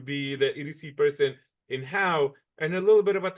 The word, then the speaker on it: Howe: Monte is the EDC Director and the City Administrator for the city of Howe, Texas. It's Howe. Nobody in Texas knows how to spell it except the locals.